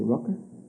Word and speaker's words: Rucker: Is it Rucker? Yes, sir.